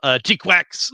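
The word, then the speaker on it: GQuuuuuuX: The newest Mobile Suit Gundam series, Mobile Suit Gundam, G-Quax, that's how you're supposed to pronounce all those different U's, is out.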